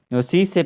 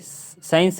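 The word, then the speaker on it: science: इसमें जो है सी साइलेंट है इसमें सी साइलेंट है क्योंकि उसके पीछे एस है एस से पहले सी से पहले एस है यानी कि एस के बाद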